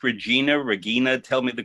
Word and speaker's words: Regina: Your mother, was it pronounced Regina? Tell me the correct pronunciation of her first name. Regina, that's what I thought.